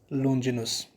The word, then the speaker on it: Longinus: People they pronounce it in Longinus, Longinus also, but the exact pronunciation is Longinus.